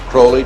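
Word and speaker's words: Aleister Crowley: have his name pronounced crowley to rhyme with holy and the statement today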